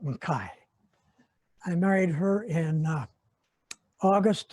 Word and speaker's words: Mackay: married in jane mackay half the family pronounced the mckay half makai the real scots call it makai i married her in